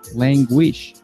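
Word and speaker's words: Langewiesche: It's called Stick and Rudder by Wolfgang Languish. At least I think that's how you pronounce his name.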